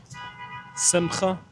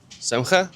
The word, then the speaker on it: Simcha: Simcha. Semcha? Yeah. Can you pronounce it?